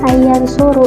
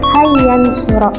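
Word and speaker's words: أن ينصر: nasab yaitu lafaz an Jadi dibacanya bukan ayansuru tetapi ayansuro Lalu ada yang ketiga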